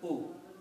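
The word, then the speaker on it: أولئك: First of all, this waw has a little circle on this, which means do not pronounce waw. So do not sound like oo. Okay? Just alif with a hamza and a dhamma has to be pronounced slightly oo. If you try to pronounce with a waw, it will be sounding like oo. That's not the word. Because this little circle means this waw is not pronounced. So it's simple pronunciation, U. The other thing is that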